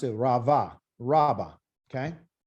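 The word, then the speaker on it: רבה: rav okay or ravi these b's are really pronounced as a v sound because they're in the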